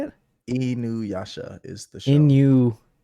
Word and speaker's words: Inuyasha: second statement is I have a cat named after an Inuyasha character.